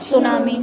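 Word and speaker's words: tsunami: बारे में बताया था, सुनामी। सुनामी की स्पेलिंग क्या है, इसमें टी साइलेंट है।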